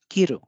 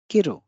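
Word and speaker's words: 切る: जो पहला शब्द है इसमें की पे अधिक बल है, रू पे कम बल है, तो ये है किरु किरु किरु। हम की को स्पष्ट बोल रहे हैं, लेकिन रू को थोड़ा सा कम, इसका जो उच्चारण है थोड़ा सा कम कर रहे हैं।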